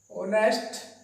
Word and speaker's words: honest: honest के साथ हम एन का प्रयोग करते हैं, क्योंकि एच जो है वो साइलेंट है। ऑनेस्ट पर्सन, यहां पर एन का प्रयोग होगा।